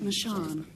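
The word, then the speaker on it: machan: theatrical circles right but we all know the actually pronounced michan and uh if you're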